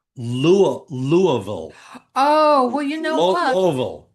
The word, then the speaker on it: Louisville: The correct uh, it's called Louisville.